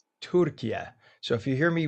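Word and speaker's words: Türkiye: It's properly pronounced Turkiye, Turkiye.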